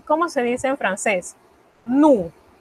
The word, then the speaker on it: nous: Nous, sin la S. Se escribe, pero no se pronuncia.